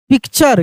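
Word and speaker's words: picture: फ्यूचर पी आई सी टी यू आर ई पिक्चर क्या पढ़ेंगे हम लोग इसको पढ़ देंगे पिक्चर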